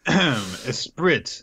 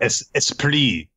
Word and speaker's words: esprit: Esprit, the quality of being lively, vivacious, or witty. Okay. Or esprit. My mistake. Yeah. That's how you say it.